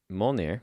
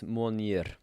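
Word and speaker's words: Mjölnir: I don't have the hammer and Mjolnir, right? That's how you say it in American. But I think if you say it in the proper Icelandic accent, it's Mjolnir.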